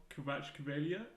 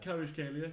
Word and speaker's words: Kvaratskhelia: Kvaratskhelia. That sounds about right. Kvaratskhelia.